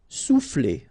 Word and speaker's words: souffler: Souffler, okay? O and U will produce OU, sou, souffler.